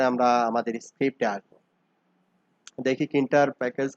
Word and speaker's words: Tkinter: হয়, এটাকে বলে হচ্ছে কিন্টার প্যাকেজ। মানে টি কিন্টার, মানে টি কিন্টার বলে আসলে, মানে যখন স্পেলিং করতে হয়, প্রোনাউন্সিয়েট করতে হয়, তখন বলে কিন্টার প্যাকেজ, পাইথনের কিন্টার প্যাকেজ।